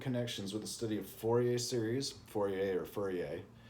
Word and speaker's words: Fourier: It is shown to have important connections with the study of Fourier series, Fourier. It's funny, you'd think it's pronounced Fourier if you were English and American,